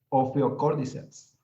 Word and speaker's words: Ophiocordyceps: Sí, es a ver, pronúncialo otra vez, Jair, por favor. Ophiocordyceps.